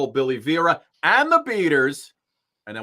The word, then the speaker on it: Vera: man oh it's not it rhymes with Yogi Berra Oh Billy Vera or Geraldo Rivera oh I always thought